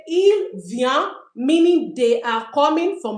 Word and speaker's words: viennent: Ils viennent, we don't pronounce the e n t. We say ils viennent, meaning they are coming for masculine.